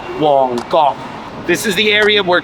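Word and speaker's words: Mong Kok: Mongkok is the district just north of Yalmate, where the Lengting Gym was, where we had our tour on Monday. It's actually not pronounced Mongkok in Cantonese, it's pronounced Wongkok.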